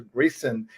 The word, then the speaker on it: Greason: Walter Grayson is the pronunciation, and Walter is the